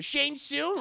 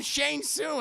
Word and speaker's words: Shang-Chi: spelled the same way they call them Shane soon I know they don't call them shun soon they say his name is Shane soon I know what his